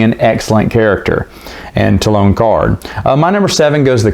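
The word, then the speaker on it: Karrde: is talon card or karad is what i used to call him even though that's not how you say his name to lone card i'm trying to get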